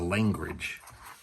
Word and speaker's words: Langridge: I always pronounce the name wrong. It's a Langridge. There's no D in there at the beginning.